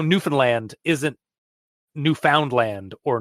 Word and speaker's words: Newfoundland: some other way of saying it like how Newfoundland isn't Newfoundland or Newfoundland it's Newfoundland like that's how you properly say